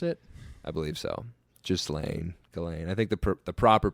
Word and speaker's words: Ghislaine: And Ghislaine Maxwell is... Is that how you pronounce it? I believe so. Ghislaine.